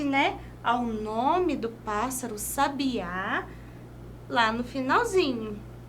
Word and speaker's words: Sabiá: Sabiá lá no finalzinho vamos ver a diferença sabia tá vendo aqui Eu até tentei deixar um pouco mais destacado sabia e Sabiá percebam perceba que uma sílaba recebe acento tônico sendo portanto chamada sílaba tônica ou seja se a